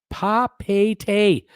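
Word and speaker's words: Papeete: Sylvan, Papa T pronounced Papete.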